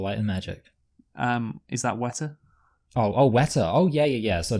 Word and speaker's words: Weta: Of course, an American wouldn't understand that because they would pronounce the R in Weta. Wetter. Yeah. Weta Productions, New Zealand based.